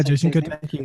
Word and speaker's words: Jason Kotecki: Yeah, Jason Kotecki.